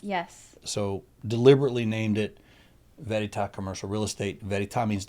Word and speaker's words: Veritas: Frederick Land Company to Veritas Commercial Real Estate, which quickly became an acronym because nobody can pronounce Veritas. It's Verita.